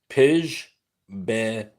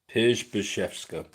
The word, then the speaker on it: Przybyszewska: Dagy Jewel Pidge Beethska Pidge Bashka. As you see the name, you'll understand while I'm uh phonetically sounding the Pidge Bashka. Pidge BFKA. Pidgebka. At least that's how the uh internet told me.